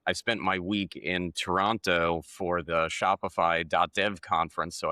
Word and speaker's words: Toronto: Um, well, that we have to just fix your your American pronunciation of Toronto and you just have to drop a second T.